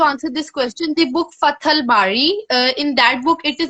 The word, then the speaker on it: Fath al-Bari: Like, even I mean, even people I who may are not be able to pronounce it properly, but its name is Fath Fath Al Bari.